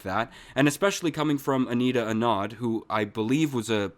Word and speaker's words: Anita Anand: I mean, right now, I think Anita Anand, is that how you pronounce the procurement minister's name?